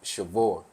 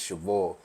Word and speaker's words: cheval: It is cheval. That's goat in French, but I trademarked it cheval. So the whole word is like, it's just cheval.